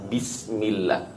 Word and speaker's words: بسم الله: harokat kasroh ketika pengucapan bismillah. Bi yang diharuskan adalah kasrul fak, ya, menekan rahang kita ke bawah hingga keluar suara kasroh. I, bi, bukan bi. Bismillah. نعم.